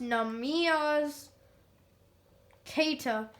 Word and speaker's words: Neemias Queta: up on basketball reference it is pronounced namias kata namius creda was a